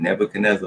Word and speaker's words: Nebuchadnezzar: So the reason I pronounce it this way is by the spelling. You got any, knee, B-U, boo, C-H-A-D, Chad, and then Nezzar, Nezzar. So I say Nebuchadnezzar. Some people, well, when I first heard this name pronounced, they said Nebuchadnezzar, but I'm like, wait a minute. Over time, I was looking at the spelling, I'm like, no, that ain't Nebuchadnezzar. That's Nebuchadnezzar. I'm like, they ain't even pronouncing the D.